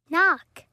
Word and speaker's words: knock: Phonics نطق listen say and match then write n and g عبارة عن نطق الحرف الكي لا ينطق إذا تلاه حرف الN.